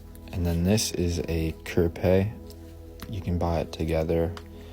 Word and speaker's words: Hapé: So this is pronounced Hapé.